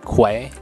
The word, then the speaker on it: quay: what the key is it's pronounced key but it's spelled q u a y I just